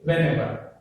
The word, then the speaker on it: whenever: Whatever the words ends with these words, the stress falls on the second syllable. That means second word. For example, whenever. If we take whenever, in this ever is there, so the stress is on the ever.